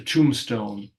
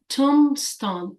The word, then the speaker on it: tombstone: t o n e but you don't say the b so Tombstone Tombstone and